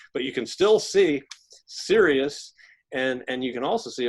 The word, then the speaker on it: Sirius: sky, the dog star, Sirius. Yes, I'm serious. It's spelled S-I-R-I-U-S.